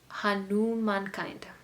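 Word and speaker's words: Hanumankind: It almost sounds like humankind, but it's not. Hanu mankind.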